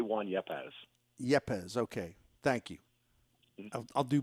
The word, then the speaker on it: Yepez: in it i say i say juan yapaz yepez okay thank you i'll do better with that